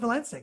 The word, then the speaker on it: Valencic: call me well valensa we're going with Valenza so your whole thing you know I